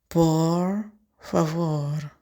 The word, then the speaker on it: por favor: Poor favore. The V is pronounced as a soft B.